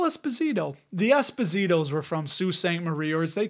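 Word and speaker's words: Sault Ste. Marie: and is headquartered in Sault Ste Marie Canada for those of you that are listening that is spelled s-a-u-l-t Ste Marie Marie Canada it's not Salt St Marie don't say that people from that region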